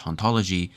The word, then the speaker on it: hantologie: "A pun on ontology, in French hantologie, and ontology sound almost the same because the H isn't pronounced."